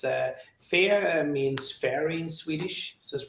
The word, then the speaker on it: Fe: Almost like fear, but without the... If I was British, I would say Fiha. Yeah, something like fear, but without the R, fee.